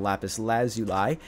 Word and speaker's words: lapis lazuli: I also need some lapis lazuli cuz that's how that's word's pronounced if you ever wondering how how uh how to pronounce lapis uh for some reason